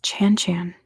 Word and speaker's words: Chan Chan: It's 2 syllables, and both of the syllables are the same sound.